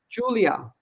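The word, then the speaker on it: Iulia: it's pronounced her name her first name i-u-l-i-a is pronounced Julia how would I've known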